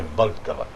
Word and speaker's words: Vltava: E se escreve V-L-T-O-T-A. Mas não tem o O, mas é Vltava.